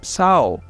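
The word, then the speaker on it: sağol: a lot which is Sao Sao means thank you and so actually it also has a g over there and you don't pronounce it you just pronounce the O after the what after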